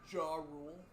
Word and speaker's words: Gurule: know keep keeping composed gurule there's so many ways you can say that it's true it's pronounced JW rule what knocks him out